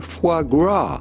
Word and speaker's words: foie gras: we are looking at how to pronounce with the typical french pronunciation foie gras you had to force